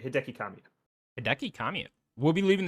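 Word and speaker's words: Hideki Kamiya: but his name hiaki yeah Hideki that's right Hideki Kamia Hideki Kamia will'll be leaving the studio on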